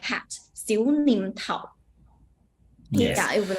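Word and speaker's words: 小念頭: It will pronounce Xiu Nim Tao.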